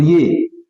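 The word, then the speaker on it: ewe: ये भी यू है और ये ई डब्ल्यू ई इसको भी यू बोलेंगे जो भेड़ होती है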